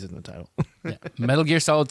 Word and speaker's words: Metal Gear: me Metal Gear right is that how you say it yeah Metal Gear there's like a special emphasis on gear Metal Gear Solid three